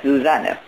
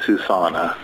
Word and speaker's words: Susanne: I counter that with my name too, because I've stuck to always introducing myself as Susanne, which is the German pronunciation, and it's spelled S-U-S-A-N-N-E.